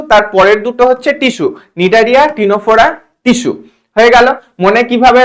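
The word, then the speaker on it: Ctenophora: Cnidaria টিনোফোরা tissue.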